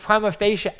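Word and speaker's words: prima facie: at the different courts Prim of fasia Prima fascia that's how you pronounce that is at face value so a lot of evidentiary issues deal with Prima fascia evidence that's where you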